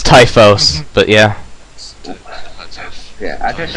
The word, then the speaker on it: Typhoeus: Oh, at least pick a name you can pronounce. I know I fucked it. It's Typhos, but yeah.